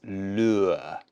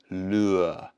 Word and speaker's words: lure: difficult pronunciation so it's lure lure really strange one your mouth goes in and then out like lure lure but there you go